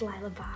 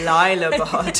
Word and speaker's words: Lila Bard: K: (pronunciation correction) I'ts Lila Bard) N: Oh sorry it's Lila Bard - ok noted Lila Bard - so yeah